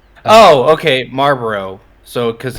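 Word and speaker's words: Marlborough: If you know how to Marlboro? pronounce the American cigarette company, then you know how to pronounce this. Oh, okay, Marlboro.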